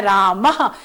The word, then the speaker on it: रामः: विसर्ग भी लगता है, जिसका उच्चारण अह किया जाता है, रामः, बालकः।